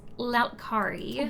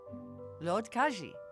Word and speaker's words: Lotkaji: What is Lautkari? What is Loot Carry? Puppet? A screen popped up when I connected to the internet. I may not be pronouncing it right. Lautkari? Lotkaji. Yes.